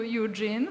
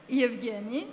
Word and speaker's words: Evgeni: my name Anastasia and I called you Eugene so sorry Evgeni I have a question